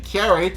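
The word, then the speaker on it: カレイ: saying curry when in actuality he was saying carrie which is the japanese pronunciation for flounder um but in case after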